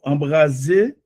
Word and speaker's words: embraser: Pas oublier S, placé dans deux voyelles, il prononce comme Z.